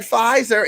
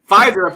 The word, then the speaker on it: Pfizer: Don't y'all mess with that Pfizer. It got some silent letters up in it.